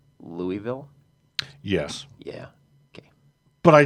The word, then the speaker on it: Louisville: city was name named for French King Louie the 16th therefore it is pronounced Louisville and that's where he